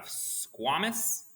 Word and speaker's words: squamous: So you have squamous, which is a wonderful word. Squamous, you can also pronounce it squamous. I've heard both.